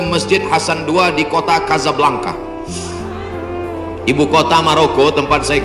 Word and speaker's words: Casablanca: Hasan II di kota Casablanca, ibu kota Maroko, tempat saya kuliah. Nama negaranya Maroko, ibu kotanya tulisannya Casablanca, cara bacanya Casablanca.